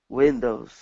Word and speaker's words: windows: word windows okay so instead of saying we windows with an e sound it's a wig windows windows good all right and